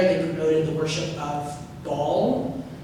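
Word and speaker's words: Baal: promoted the worship of ball which sounds funny it's spelled e a a l it's not just a giant sphere that they're worshiping uh thank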